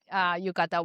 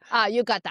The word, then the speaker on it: yukata: so yeah, this is one of my favorite yukata wardrobe. And I appreciate that too, because every time I see, help me pronounce it again. Tomoko. No, the outfit. Yukata.